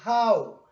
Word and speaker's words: how: Vamos a decir así, how. Este sonido es como una entre la O y la U.